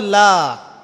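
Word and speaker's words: لَا: উপর কি মদ আছে লা এর উপরে কি মদ আছে না লাকে টানতে হবে না কি বলেন লাকে টানতে হবে না লাকে টানতে হবে লাকে টানতে হবে এই যে বলি আমরা লা ইলাহা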